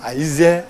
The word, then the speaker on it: Zè: Aujourd'hui, Zé a pu bénéficier de quelques kilomètres de voies bitumées. Aïzé, c'est les Blancs qui ont changé la prononciation Aïzé à Zé.